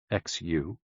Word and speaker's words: xu: The 6 sounds are XU, pronounced like shh, with a deep sigh, which is associated with the liver.